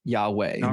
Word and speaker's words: Yahweh: uh the PaleoHebrew um had imply vowel patterns and Yahweh most likely from all scholarly reconstructions would have been pronounced pronounced as Yahweh.